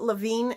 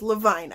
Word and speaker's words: Levine: and ever by Gail Carson Levine I keep pronouncing it Levine and I should know better than that because